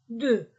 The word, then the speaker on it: deux: nombres 0 1 2 2 je ne prononce pas le X 2 3 je ne